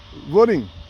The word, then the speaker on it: Vueling: Vueling comes from Vuolo. Vuolo, and they added ing, like a flying ing. Vueling. And then when you pronounce it, you say Vueling. It's like Vuolo and ing. That's how they came up with this name here.